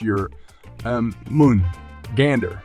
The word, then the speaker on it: Jörmungandr: He is one of the oldest creatures in Norse mythology, and his name is pronounced Jörmungandr, also given as Jormungandr and meaning huge monster or great beast.